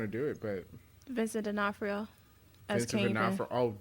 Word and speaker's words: D'Onofrio: I don't know if she's going to do it, but Vincent D'Onofrio as Vincent Kingpin.